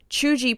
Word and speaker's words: cheugy: uncool it's not embarrassing or even always negative chuji pronounced and then they put c-h-e-u-g-e-e